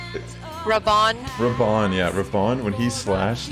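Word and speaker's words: Raubahn: Raban, yeah, Raban.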